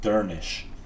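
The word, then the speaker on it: Durnisc: Durnisk is pronounced Durnish because of the final SC cluster sound like the SH sound.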